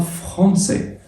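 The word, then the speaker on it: français: طيب لو جه بعد حرف الاف بيتنطق خ. مره وانت بتنطق اي كلمه لقيت ان حرف الاف جه بعديه حرف الار، في الحاله دي ممكن يتنطق خ، تبقى فرنسي. الفرنساوي فرنسي. بس انطق انا انهي واحده؟ الاثنين زي ما انت عاوز، الاثنين صح.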